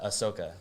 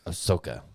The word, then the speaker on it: Ahsoka: she's my favorite character I really enjoyed the Ahsoka Tano I haven't watched that yet but I